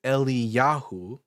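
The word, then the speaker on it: Eliyahu: So for example, if we see um at the ending of certain Hebrew names like Elijah in Hebrew is Eli Yahu.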